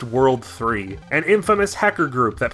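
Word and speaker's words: WWW: repair guy was working for this organization it's pronounced world 3 an infamous hacker group that plans to take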